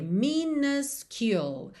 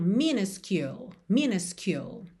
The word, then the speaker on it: minuscule: Então, a gente vai ter minuscule. A primeira letra U vai ser um A. Já a segunda vai ser U. Então, minuscule.